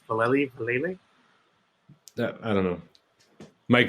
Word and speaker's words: Vallely: No, I can't pronounce his name properly. It's my German tongue. I can't. Mike Val. I think it is Vallely. It's weird.